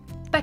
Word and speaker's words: pas: Pas question. Pas question. Be careful, the S in pas is silent, so I don't want you to hear pronouncing it, okay?